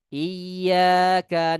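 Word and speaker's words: إِيَّاكَ: Disimak ini bacaan yang benarnya. Iyyaka na'budu wa iyyaka nasta'in. Ya, itu cara bacanya dengan ditekan di huruf iya.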